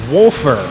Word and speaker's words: Wolfer: folks just getting worried it is wolfer not wafer my apologies but now we